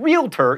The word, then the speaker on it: realtor: prescription not perscription and realtor is only two syllables not three same with jewelry by